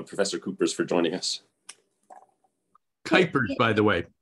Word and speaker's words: Kuipers: Coopers for joining us kypers by the way kypers kypers I our family pronounces it with a long eye just kers although Dutch